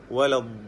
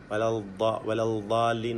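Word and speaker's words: الضالين: എന്നാൽ പലപ്പോഴും പലർക്കും തെറ്റുപറ്റാറുള്ളത് അതിൻ്റെ മഖ്റജ് മനസ്സിലാക്കുന്നിടത്ത്, അതിൻ്റെ ഉച്ചാരണം ശരിയായ വിധത്തിൽ നിർവഹിക്കുന്നിടത്ത്, അതായത് നാവും മുൻപല്ലും ചേർത്തുകൊണ്ട് വലദ്ദാല്ലീൻ എന്നൊക്കെ പറയും. തെറ്റാണത്, വലദ്ദാല്ലീൻ അങ്ങനെ ഒരിക്കലും പറയരുത്. അക്ഷരം തന്നെ മാറിപ്പോവുകയാണ്. അങ്ങനെ നമ്മൾ മുൻപല്ലും നാവും ചേർത്തുകൊണ്ട് ഉച്ചരിക്കരുത്, മറിച്ച് നാവിൻ്റെ സൈഡാണ് മഖ്റജ്, ദ്വാദിൻ്റെ മഖ്റജ് എന്ന് മനസ്സിലാക്കണം.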